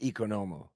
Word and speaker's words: Economou: It's Economou in Greek, but like Americanized people say Economou. That's Americanized. Yeah. But it's pronounced Economou.